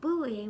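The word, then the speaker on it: buaigh: It's more of like a diphthongy thing. So like buoy, cloy, but it's not flat out like buoy because that'd be yellow.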